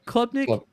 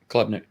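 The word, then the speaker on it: Klubnik: Clubnick. Clubnick.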